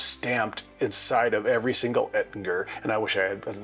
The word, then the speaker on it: Ettinger: Ettinger. Yeah, it's a hard G. Not Ettinger. Ettinger.